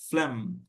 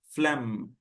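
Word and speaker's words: phlegm: আপনার অনেক কিছু আছে এইচ আছে জি আছে যেগুলো কিন্তু উচ্চারণ হয় নাই এটার উচ্চারণ কি হবে ফ্লেম ফ্লেম cough of ফ্লেম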